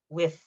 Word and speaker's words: with: For example, when we say with, whenever I hear somebody say with that TH sound in the end, I go like, oh, nice English. Okay, so with.